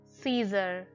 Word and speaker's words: Caesar: The next word is Caesar. Here the letter C is followed by the letter A, so it is supposed to be hard C sound with letter A, but it sounds soft here, like Caesar.